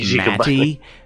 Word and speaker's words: Matey: The Golbat is Matey. Matey. Okay. Yeah. Should be pronounced Matty, but it sounds better as Matey.